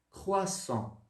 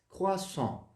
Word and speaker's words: croissant: Déchiré, croissant, croissant, tá bom? Então lembre-se, o AN no francês ele tem som de, como se fosse um on, tá? On. O outro tio aí e um biquinho.